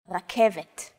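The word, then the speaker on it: רכבת: This letter is pronounced differently than an English R. It's pronounced at the back of the throat instead of forward in the mouth.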